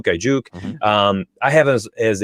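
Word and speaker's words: Aiyuk: I always say his name wrong. Ayuk.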